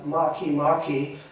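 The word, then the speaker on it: Makemake: biggest print on the whole screen and it's pronounced uh makimaki and it's actually a a minor planet uh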